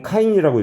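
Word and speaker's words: kine: 그리고 참고로 진동 허용 규제치에 기준치가 있는데 이건 카인이라고 읽어요.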